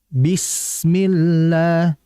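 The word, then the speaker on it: بسم الله: Kemudian berikutnya ketika tadi bismillah jangan bismill jangan e jangan gitu langsung saja jelaskan vokal i pada kasrah. Bismillah bukan bis abis bukan tapi bismillah. Kemudian berikutnya terakhir hati-hati alabtar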